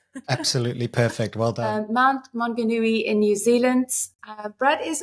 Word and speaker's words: Mount Maunganui: He lives in New Zealand, and I'm going to forget to pronounce that now, Brad. Mount Maunganui. Perfect. Please help me if that's correct or not. Absolutely perfect. Well done. Mount Maunganui in New Zealand.